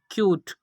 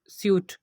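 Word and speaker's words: cute: Third example है इसमें क्यूट। यहाँ पर भी आप देख सकते हैं कि इसकी करेक्ट प्रोनाउंसिएशन होगी क्यूट, ना कि स्यूक स्यूट।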